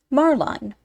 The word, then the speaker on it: marline: or rope round another marline pronounced Marlin small two- stranded stuff